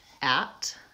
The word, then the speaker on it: at: So we have first the words at and attend. And you can see they both start with the AT, but at uses a clear vowel a, because it's the only syllable, the stressed syllable in the word, versus attend, it becomes a schwa.